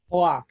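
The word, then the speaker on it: Halák: And then, how do you pronounce that name? Halak Yaroslav Halak. Halak.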